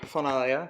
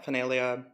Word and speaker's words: Faunalia: silly little book here finale finale there's a couple different ways to pronounce it the big thing is the Fawn right so like Jimmy